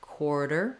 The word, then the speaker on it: quarter: It's just like quartz in the beginning. It has quar in the first syllable. Then my T sounds more like a D. It's a flap, quarter, quarter.